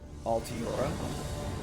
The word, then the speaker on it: Altiora: The Altaria. Altioria. How do you pronounce this, Toots? I think it's Altiora. Altiora 2K open today. Right? It's Alti and then Aura. Yeah. I'm just like not saying the I.